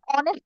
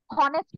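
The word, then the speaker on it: honest: an hours an hours এখানে দেখো এইচ টা কি হাওয়ার মানে নরমালি যদি আমি এইচ হিসেবে উচ্চারণ করি তাহলে এটা কি আওয়ার না হয়ে কি হওয়ার কথা হাওয়ার হওয়ার কথা তাই না আমরা অনেস্ট বলি না হনেস্ট কি বলি হনেস্ট কিন্তু বলি না তার মানে এইচ কখনো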